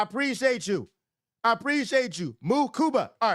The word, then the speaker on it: Mukuba: Moo Kuba. All right. I'll say cuz you know I got to make this stuff for the drunk. I'll say this, bro. If you got Andrew Mukuba, I said it right, and his twin is